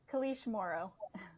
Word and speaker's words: Kalish Morrow: Could you say your name, please, so we can pronounce it correctly? Right. Kalish Morrow.